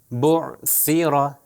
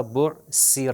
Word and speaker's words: بعثر: سا 3 نقطے والا، دونوں کے لیے زبان کو اوپر اور نیچے والے دانتوں کے درمیان میں لے کر آنا، تھوڑی سی زبان باہر آئے. دیکھیے بعثر، سیرا، اگر میں اس کو سین سے تلفظ کروں تو غلط ہوگا، وہ ہوگا بعثر.